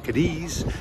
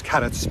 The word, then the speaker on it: Cádiz: I was saying Cádiz, but it's Cádiz by the local.